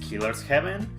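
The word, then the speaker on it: killer7: of his games killer 7 which apparently it's pronounced killer's heaven lollipop chainsaw and killer is death as far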